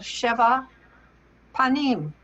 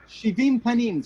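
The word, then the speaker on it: שבעים פנים: attention the importance of Sheva Panim. Yes, indeed. Am I saying it right? Shivim Panim, 70 aspects to Torah. I came close.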